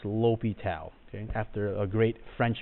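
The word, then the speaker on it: L'Hôpital: rule I know this looks like it says La hospitals but it's pronounced lopi Tau okay after a great French mathematician so now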